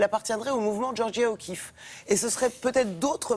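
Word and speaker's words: O'Keeffe: georges tron mais elle s'appelle georgia o'keefe kif ça s'écrit cas 2e 2f e o keefe pas vous tromper c'est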